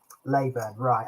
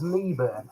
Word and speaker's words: Leyburn: I always thought it was Leeburn actually, but Leyburn. If it's Leyburn, that's good enough.